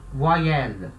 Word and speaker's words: voyelle: Então, quando é uma vogal, aqui, ó, vogal em francês, voyelle, voyelle, tá? Esse Y I vai ter som de I, voai.